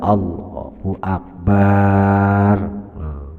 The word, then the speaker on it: Allahu akbar: Bar dibaca pendek tapi dibaca pendek Allahu akbar. Kalau bacanya seperti itu, takbiratul ihramnya tidak jadi, tidak dianggap.